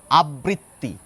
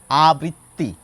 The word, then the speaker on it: আবৃত্তি: দেখুন, এই শব্দটির দুই ধরনের উচ্চারণ প্রধানত আমি শুনে থাকি। একটি গোষ্ঠী মানুষ বলেন আবৃত্তি, এই শব্দটির উচ্চারণ। আরেক গোষ্ঠী মানুষ বলেন আবৃত্তি। আবৃত্তি আর আবৃত্তি দুটো তফাৎ বুঝতে পারছেন? এই শব্দটি যখন বলছি দুটো ব আসছে উচ্চারণে, আর এই শব্দটি যখন